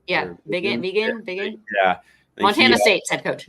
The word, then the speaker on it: Vigen: Yeah, Vigen.